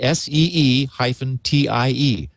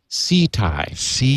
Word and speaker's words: Ceti: Phonetically, SEE-TIE. Ceti. So Thai.